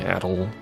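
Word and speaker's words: Adol: That's pronounced, by the way, Adel.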